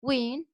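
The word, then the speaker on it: Nguyen: how she means and knowin pronounce win are the two most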